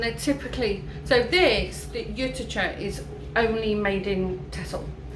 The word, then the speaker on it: Juttertje: Juttertje. No, in Dutch. Nee, juttertje. Juttertje, is it? Yeah, juttertje. Juttertje. Oh yeah, 'cause it's got the TJE in it.